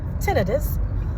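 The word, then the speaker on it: tinnitus: Uh, which the technical term, how it's really pronounced is tenidis. Uh, the ailerangologist informed me of that. That's the ear, nose, uh, throat doctor. That's the proper way of pronouncing it.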